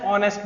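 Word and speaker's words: honest: नेक्स्ट है Mohan is dash ऑनेस्ट बॉय। ऑनेस्ट एच, ऑनेस्ट pronunciation में क्या आ रहा है? फर्स्ट वर्ड में, शब्द के लेटर में आ, तो यहां पे भी क्या आएगा?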